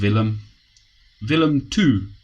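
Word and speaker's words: Willem II: We're playing, I think it's pronounced Willem 2.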